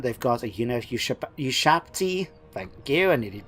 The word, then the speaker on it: Ushabti: They've got Neherkaran warriors, they've got Neherkaran horsemen, they've got Carrion, they've got a unit of Ushabti, thank you, I nearly said it wrong, as well as the archers.